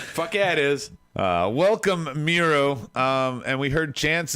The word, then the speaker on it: Miro: about the best man myro right right rob that's how you say it it's it's myro it's a myro that is uh welcome miro um and we heard